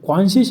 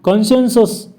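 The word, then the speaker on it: conscience: बघा आता हे जे कॉन्शियस आहे ना हा मला वाटतं याचं उलटं पालट करून एक प्रश्न आलेला होता आपण याच्या आधी हा प्रश्न घेतलेला आहे कॉन्शियन्स सॉरी कॉन्शियन्स असं त्याचा उच्चार होईल स्पेलिंग जरा व्यवस्थित लक्षात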